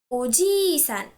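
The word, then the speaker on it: おじいさん: Somebody else's grandpa is Oji-san. You have to stress the syllable G. While somebody else's uncle is simply Oji-san. Oji-san. You do not have to stress anything here.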